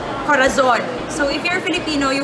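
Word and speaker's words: corazón: Spanish, for example, I would say corazon. So if you're Filipino, you would say corazon, as in there's the letter Z. But in Spanish, it should be said as corazon. So it's like TH.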